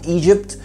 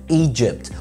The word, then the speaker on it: مصر: الاولانيه ما بنحطش دي خفيفه كده قبل الجي فبنقول ايجيبت، مع ان المفروض نقول ايجيبت.